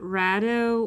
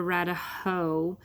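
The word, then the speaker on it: Raidho: and you guys got rat oh or rat a ho there are some differences in pronunciations because it's these as these go date back to the Vikings so the very guttural language but this room the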